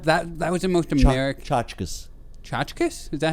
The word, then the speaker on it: tchotchke: The selling of the tchotchkes and souvenirs at the ceremony.